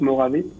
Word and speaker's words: Mojave: Je l'ai vu aussi sur Morave. Je vais le prononcer à la française avec catastrophique, mais c'est pas grave.